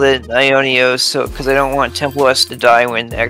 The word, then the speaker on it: Aiwnios: again the the um the W is actually like an o sound in Greek eternity in ancient Greek